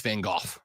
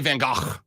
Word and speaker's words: van Gogh: However, why were we lied to as children and told it was Vincent van Gogh? that is a widely accepted English pronunciation of it. In Dutch, it's Van Gogh. It's really Van Gogh.